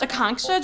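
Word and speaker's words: Akanksha: shot oh it's pronounced akongsha just think of a conk shell the app said you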